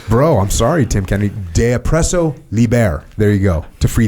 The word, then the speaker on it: De oppresso liber: that others may live, de oppresso liber. How do you say that? I can't believe I can't say that. De oppresso liber. Is that right? I think you got it right.